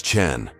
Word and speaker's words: Chen: It's Chen. Marcus corrected politely. Like Cheng in challenge.